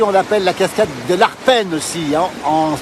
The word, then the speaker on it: Arpenaz: aussi en B savoyard on prononce pas toujours les a Z à la fin on on ne dit pas le Z dans tous les cas et en tout cas et le a souvent l'enlève on dit parfois la cascade